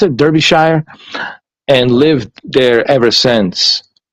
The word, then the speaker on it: Derbyshire: her parents moved over to uk to uh derp shire derbyshire is how he pronounced it derbyshire and lived there ever since and she said